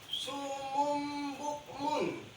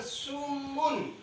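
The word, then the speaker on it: صم بكم: Contoh di sini sumum bukmun. Jadi bacanya bukan sumun, tapi sumum.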